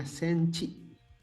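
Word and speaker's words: センチ: Sentimeternya nih silakan perhatikan, ingat bacanya senchi, pakai c, senchi, jangan senti ya, senchi.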